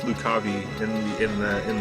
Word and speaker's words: Lucavi: I think he knows about the Lucavi. Does he? I think he finds out about the Lucy after this battle. I don't know. And yeah, I know I know it's pronounced Lukabi in the in the in the Chronicles of